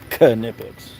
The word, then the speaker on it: Knipex: I always want to call it Nipex, but I think it's actually pronounced Knipex. K. You got to pronounce the K.